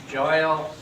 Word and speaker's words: Joyal: to have you here joyal rhymes with royal he taught me that